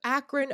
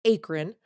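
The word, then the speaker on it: Akron: show he's out of akan Ohio which I always want to pronounce acran and he's been a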